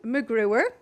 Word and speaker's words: McGruer: instance you know who can't spell my name or pronounce it it is macGruber I have you can